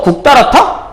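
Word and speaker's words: 굵다랗다: 얘는 발음하게 되면 국다랗다. 국다랗다?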